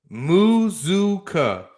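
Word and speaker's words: Mazzccua: to him I will last name pronounced muzuka muzuka Mazuka Micah muzuka Micah oh I like that Michael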